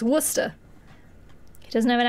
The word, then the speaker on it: Worcester: yeah yeah if you're if you're from boston and you are pronouncing worcester it's worcester he doesn't have an